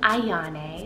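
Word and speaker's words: Aiyane: And then another really beautiful, almost romantic-y sounding name is the name Ayane. So it's spelled A-I-Y-A-N-E with a little accent.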